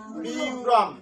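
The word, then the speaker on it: ব্যূঢং: তারপর কি আছে বুরম আছে, এটার উচ্চারণ কি হবে বিউরম। কেন, বর্ষাতে দেখো জয়ফলা আছে, জয়ফলার উচ্চারণ রস্বই যোগ অন্তস্থ মানে ইয়। তাহলে ইয় হলে বর্ষাতে যদি ইয় যোগ করি তাহলে ব ইয়, তাহলে বিয়, ঠিক আছে।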